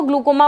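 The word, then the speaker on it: glaucoma: है that is called ग्लूकोमा वाली condition Hindi में उसको ग्लूकोमा बोलते हैं इंग्लिश में उसको ग्लो कोमा बोलते हैं ओके सो ग्लो कोमा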